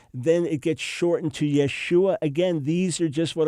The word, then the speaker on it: Yeshua: But there's no reason to create a name that never existed, Yahshua or Yahushua. Forget it. It is Yeshua.